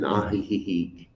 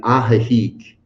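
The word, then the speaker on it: Ajijic: If you'd like to look it up, it's in Aihik. I just say I just put an extra syllable in there. Sorry, my friends. I put an extra. It's in Aahik, Mexico.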